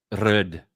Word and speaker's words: röd: context of not being a microphone brand, it's röd or something like that.